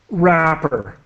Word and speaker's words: wrapper: Remove chicken from how to pronounce wrapper. Wrapper. The the W is completely silent.